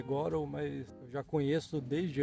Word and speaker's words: Godot: No caso, Unity, Unreal e Godot, que eu chamo de Godot, mas eu sei que a pronúncia é Godot, mas eu já conheço desde antes de ter uma pronúncia correta.